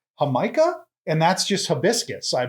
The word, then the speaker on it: Jamaica: have a soda that I used to think was called Jamaica but it turns out it's called Jamaica and that's just hibiscus